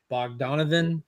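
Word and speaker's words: Bogdanove: number one and this is the uh John bog Donovan is that how you say it yes it's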